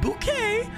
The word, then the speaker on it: Bouquet: I just did uh it's not bucket it's bouquet and then bouquet residence